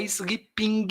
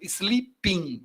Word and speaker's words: sleeping: Eu não pronuncio esse G final, tá? Não é sleeping, não, tá? Ping é o ping-pong, né? Então, sleeping, o G some, não tá ali.